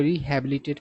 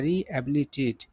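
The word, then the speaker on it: rehabilitate: देखिए बहुत सारे लोग इसको रिहबिलिटेट पढ़ते हैं। इस वर्ड में एच का उच्चारण नहीं होता है। ठीक है ना? सही उच्चारण क्या होता है? रिहबिलिटेट।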